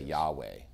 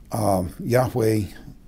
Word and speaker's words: Yahweh: Yahweh is the best we can do to pronounce that word, but they didn't want